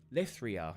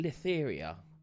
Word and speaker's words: Lithria: Shall now do number 3, and I think doing the Lithria. I want to say Litheria. I keep wanting to add an extra fucking syllable in there.